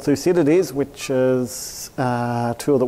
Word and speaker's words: Thucydides: It's, don't worry about the pronunciation, just think of two CDs and it's more or less close enough.